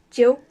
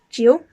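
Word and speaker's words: 九: number nine is plants jill and it's in third tone so it goes down and then up jill and finally number 10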